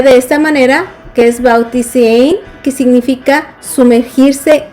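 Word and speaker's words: βαπτίζειν: Y la palabra bautismo viene del griego, que se pronunciaría de esta manera, que es bautisein, que significa sumergirse o lavar.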